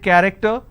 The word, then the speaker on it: character: character so you see the word character i have the letter c h and it's pronounced as ker i don't say character i say it character one last passage for